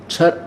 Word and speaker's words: क्षर: दो परमात्मा दो भगवान है छर छर पुरुष और अक्षर पुरुष छर अक्षर शर इसको वैसे उच्चारण करते हैं शर शर लेकिन हम समझाने के लिए इसको देसी भाषा में बोला अपने संत भाषा